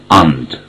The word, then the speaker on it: and: So the word and has two pronunciations. One and with the long vowel a, the other one is without any emphasis, without any stress, and. So they're both correct, and und.